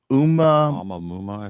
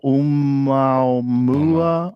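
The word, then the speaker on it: ʻOumuamua: Oumuamua, I think. Oh, Oumuamua. Oumuamua.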